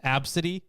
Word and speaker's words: ABCDE: Yeah, there was also one that's just spelled ABCDE, and it's supposed to be pronounced Absidy.